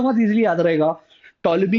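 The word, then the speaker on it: Ptolemy: बहुत इजली याद रहेगा टोलमी इस की स्पेलिंग पी से चालू होती है पी साइलेंट है बहुत सारी चीजें हैं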